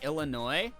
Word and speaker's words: Illinois: so mommy sorry exactly I used to pronounce the s in Illinois that's okay that's a